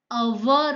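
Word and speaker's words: hour: आपको याद रखना है, अवर, उसका प्रोनाउंस अ से शुरू होता है, अ है, इसीलिए उसके आगे एन आएगा।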